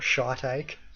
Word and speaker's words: shiitake: Pretty sure it's pronounced shiitake, not shiitake.